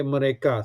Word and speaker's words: mereka: Okay, example, mereka. Okay, mereka. So the stroke is on ka.